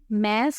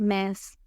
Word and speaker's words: mass: इन words की सही pronunciation होती है ग्राम और मैस, लेकिन हम इसको अपनी लोकल लैंग्वेज में ग्राम और मास वगैरह कहते होते हैं।